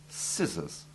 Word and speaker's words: scissors: Where SC is followed by the vowels E, I, or Y, the C is silent, or rather it is the soft C merged into the similar S sound.